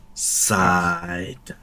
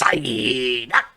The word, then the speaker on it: Psyduck: It's Psyduck. Side. That's not how you say it. Yeah. Yeah, I was gonna say it's Psyduck.